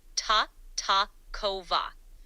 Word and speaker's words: Tartakower: correctly tataro is pronounced t kova with the emphasis on the second syllable thanks for checking ready